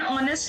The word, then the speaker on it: honest: In the second exercise, we will study the indefinite article an honest man. So H is silent there.